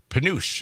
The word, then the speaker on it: penuche: Oh, Penuche, maybe. Let's get Julian on the line, see if he can pronounce Penuche. It's Penuche. Penuche is pronounced Penuche.